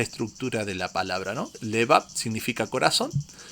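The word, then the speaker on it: לבב: En el hebreo es levab y se escribe con la letra lamet y dos letras eh bet. La la lamet que representa la L y las bet que representa las B.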